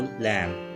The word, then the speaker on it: lamb: I saw a beautiful lamb. इस sentence में लफ्ज़ lamb में B साइलेंट है।